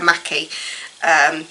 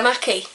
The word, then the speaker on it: Mackie: I've seen someone pronounce her as Bella Mackie, so I'm going to say Bella Mackie.